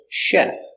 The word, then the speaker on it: chef: truck very good example chef so we have the CH but we pronounce it soft Chef don't say Chef say chef he's a chef and